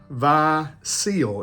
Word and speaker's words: Vie Ciel: about man this is V seal is how you pronounce this I did take French